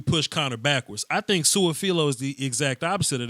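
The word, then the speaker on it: Su'a-Filo: Xavier Suafilo.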